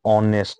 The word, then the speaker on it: honest: Here there is a consonant, but H remains silent. So the spelling goes, I mean the pronunciation goes O-N-E-S-T, honest, right?